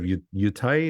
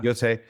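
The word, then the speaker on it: Yōtei: Yeah, and they've even got like a Ghost of Yutai. Is that how you say it? Is that what Yotei? Yeah, Yotei.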